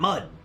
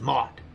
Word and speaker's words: Maud: Said my name is not Mud. It's Mod. And some people said it's Maid. It smelled Maid, but it's pronounced Maud.